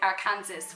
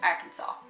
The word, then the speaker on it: Arkansas: That's like us going to America and saying Arkansas when it's actually Arkansas.